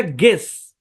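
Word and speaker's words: guess: জি এর পরে ইউ, তারপর ভাওয়াল থাকলে ইউটা সাইলেন্ট। মানে জি ইউ তারপরে যদি ভাওয়াল থাকে, যেমন এটা গেস, তারপর হচ্ছে গেস্ট, তারপর গার্ড, গাইড।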